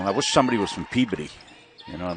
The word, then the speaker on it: Peabody: What do you mean Peabody? It's Peabody.